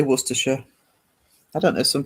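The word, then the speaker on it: Worcestershire: How do you pronounce Worersha? Oh, Worersha. Um, Worcester. Well, I say Worersha. I don't know if some people say Worershire, but Worersha.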